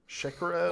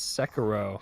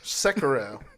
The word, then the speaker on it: Sekiro: Shakira? I'm not gonna fucking correct you. Shakira, I thought it was Shakira. My hips don't lie. No, it's not Shakiro. It's Sekiro. Sekiro.